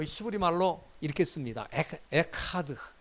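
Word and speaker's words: אחד: 여기 이거는 여기 그 가래 끓는 소리를 좀 해야 돼. 에카는 아니고 그 또 하도 아닙니다. 에하드도 안 되고 에카드도 안 되고 히읗과 키읔의 그 중간 발음이라고 할까요? 이 가래가 이렇게 끓는 소리가 나야 돼.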